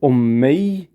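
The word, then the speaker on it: أمي: When I see all the options for it, Alif, Mim, Ya. How do we pronounce it? If you said Ummi, which means my mom.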